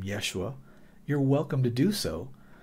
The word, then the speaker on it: Yeshua: And of course, the shortened form for Yahshua is Yeshua. And that is how you say the name of God if you are speaking Hebrew to a Hebrew-speaking person, Yeshua.